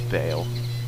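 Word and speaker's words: Baal: l it's awesome that's not b no it's Bale okay pronounced Bale I disagree with their pronunciation of misto like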